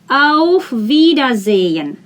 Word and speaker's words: auf Wiedersehen: this combination e h if you see h after a vowel you need to make that vowel long e you do not pronounce h do not pronounce it vida zayn auf wiedersehen goodbye and this one